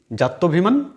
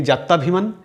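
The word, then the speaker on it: জাত্যভিমান: আমি দুটো শব্দ লিখেছি জাতভিমান অনুমত্য অনুসারে এই দুটো শব্দে অনেকেই আমরা ভুল উচ্চারণ করি অনেকেই বলি যাতাভিমান বা অনুমত্তানুসারে কিন্তু যাতাভিমান নয় আকার হবে না আবার অনুমত্তানুসারে নয় অনুমত্য অনুসারে কেন নয় নিয়মটা এই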